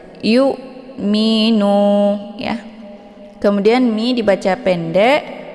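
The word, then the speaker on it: يؤمنون: Wal yu minu, jangan wal yu mi ya, sehingga terbentuk ada suara wa gitu ya, yu. Tapi itu bacaan yang salah. Yang benar dibacanya secara tipis kemudian ditekan sedikit saja, yu minu ya.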